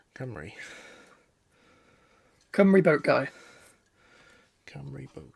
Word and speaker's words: Cymru: Yeah, Cymru. Cymru. Cymru boat guy. Cymru boat guy. Okay. A lot of people will try and go Simru.